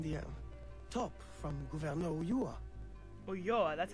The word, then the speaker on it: Ulloa: Ulloa, that's how you say it.